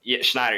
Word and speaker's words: Schneider: I think I'm gonna pronounce his name Schneider. wrong. It's Schneider. Yeah. I wasn't gonna use the SH there.